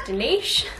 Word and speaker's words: Dinis: If you're new here, hello, my name is Dinis, or if you say it the proper way, it is pronounced Denish.